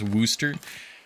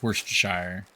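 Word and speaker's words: Worcestershire: It's pronounced Worooster. I my entire life I've heard it pronounced like worst shire or worst sister or all sorts of other things.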